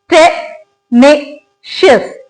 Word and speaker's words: tenacious: Pronounce करते हैं by dividing it into syllables. tenacious. इसके अंदर 3 सिलेबल्स हैं.